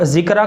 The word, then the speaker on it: ذکرہ: اس کو سمجھ لیجئے۔ ذکرہ جو ہے وہ زال کے ساتھ ہے، ذکرہ، زال ہے، چھوٹا کاف ہے، را ہے، اور آخر میں یا ہے، یعنی الف مقصورہ کے